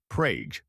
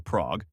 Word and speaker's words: Prague: Prague, Oklahoma, named after the Czech capital, pronounced Prauge rather than Prague, declares itself the kolache capital of Oklahoma.